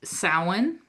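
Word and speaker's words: Samhain: And of course, the last one that we have between the autumn equinox and ule is sin. That one I do know how to pronounce.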